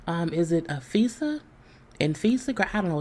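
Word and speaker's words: Anfisa: So we know that he was married to, and I'm going to probably pronounce her name wrong. Is it Afisa? Infisa? I don't know. It's Anfesa.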